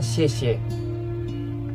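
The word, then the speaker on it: 谢: Tulisan di atas kue bulan ini bacanya xie.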